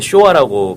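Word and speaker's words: 昭和: 쓴단 말이에요 그게 이제네 그 소화라고 이제 하셨는데 일본말로 이제 소아라 발음이 되는 거고 1989년까지 그걸 썼어요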